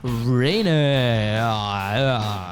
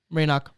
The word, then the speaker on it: Raynock: the Jason score show back again with Kirsten Rayner yeah that's how you say it now on